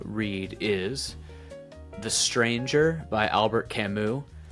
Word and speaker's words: Albert: is The Stranger by Albert Camu. I can't bring myself to say Albear and try to pronounce it uh as accurately as possible.